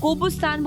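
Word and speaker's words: Qobustan: कोबुस्तान बोलते हैं, कोबुस्तान बोलते हैं। इन लोगों की प्रोनाउंसिएशन में सी को के बोलते हैं लोग, तो हम लोग जैसे कैल्विन मतलब सी को सी बोलते हैं, ये किस के को सी बोलते हैं, कुछ ऐसा सिस्टम है इनका।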